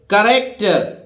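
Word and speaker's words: character: इसी तरह देखिए करैक्टर, सी एच नहीं बोल रहा है यहां, देखिए सी ए का करैक्टर, करैक्टर मतलब सी एच से का बना हुआ है यहां।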